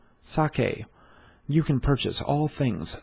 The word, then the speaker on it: sake: going to learn how to uh protons sake saw k sake you can purchase all things sake online by